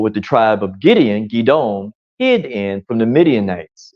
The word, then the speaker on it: Gideon: the stream yah had Gideon or gidon is proper pronunciation of his name gidon take those men and